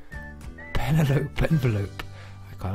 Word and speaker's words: Penelope: called Penelope and I pronounced her name to rhyme with envelope I see so penelopee penelopee envelope I got like Penelope uh she stabbed